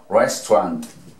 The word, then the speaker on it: restaurant: Entonces decimos restaurant, restaurant. Hagan cuenta que dijimos restaurant, pero dijimos restaurant, restaurant. ¿Vieron? Restaurant. Pegamos todo eso. Simplemente borramos aquella inacentuada que va delante de la R.